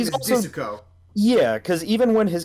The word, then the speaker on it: Disco: Which is stupid that they translate that as D-I-S-C-O. I kind of like that because the intention is that you're supposed to pronounce it like they do in the song.